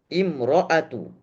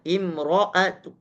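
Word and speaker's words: امْرَأَةُ: Kedua, dengan cara ismam. Bagaimana cara bacanya? Imro'at, imro'at, imro'at. Jadi nya hamesnya keluar dengan cara monyong bibirnya.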